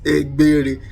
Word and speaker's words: Egbere: It is Egbere. The B sound that we have there is not present in any of Western language, so you'll not be able to pronounce that. So we call it Egbere, so we pronounce it.